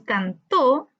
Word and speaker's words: cantó: Cuando decimos cantó, cantó, esa es una palabra aguda donde su sílaba tónica está en la última sílaba.